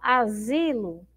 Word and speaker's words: asilo: Ó, asilo. Olha lá. Asilo. Quando eu pronuncio asilo, ó, qual é a sílaba que eu demoro mais? Ó, esse zi, ó.